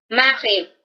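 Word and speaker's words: mariée: Por ejemplo, marié o casado en femenino, marié. La pronunciación es igual.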